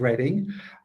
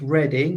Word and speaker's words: Reading: at the University of Reading. Just to say it's pronounced reading, although you might read it as reading.